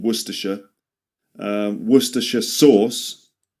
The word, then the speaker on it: Worcestershire: A source that comes from a place in England called Worersha. Um, wor sauce. So, worersh remember only three syllables.